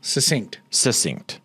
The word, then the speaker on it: succinct: Succinct. You said sucked. Yeah, because you always say it wrong.